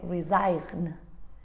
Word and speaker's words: resign: in all these words letter g is silent is not pronounced we say resign we don't say resign we say design we